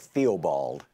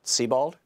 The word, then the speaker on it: Theobald: ol BA LD o the spelling that looks like Theobald but yeah but it's pronounced Sebald earthy ball evolve be